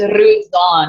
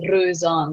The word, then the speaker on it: Roseanne: So it's Roseanne. If you want to pronounce it correctly, it's Roseanne. So for the English people, it's really getting that going.